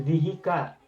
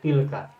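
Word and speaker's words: تلك: Nah, tapi pengucapan zihika itu tidak enak, tidak sedap. Maka khusus untuk ini, zihi ditukar menjadi ti. Menjadi ti, tambahkan lam, kemudian baru tambahkan ka. Menjadi tilka.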